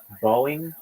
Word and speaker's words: Boeing: Boeing will just be Boeing, just Boeing, one syllable. Boeing, like Boeing, Boeing, Boeing, Boeing, Boeing. But that's how some people say it anyway. And I have a friend of mine. He's from South Africa. Really quickly, like Boeing, Boeing, Boeing, and I and so instead of making it two syllables, just having it be one syllable is really important for a company.